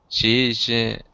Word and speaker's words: She's: Say it like a Z. She's invited. She's invited all her friends for a party.